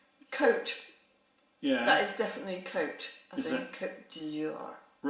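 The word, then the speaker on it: Côte-Rôtie: bloody indian flatbread coat yeah that is definitely coat i think jesus right i don't know what i actually don't know how to pronounce the um second word r-o-t-i-e with an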